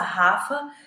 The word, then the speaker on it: Rhafa: profissional, que é Rafa, sendo que o Rafa se escreve Rhafa. Então, Rafa, com esse H aí no meio.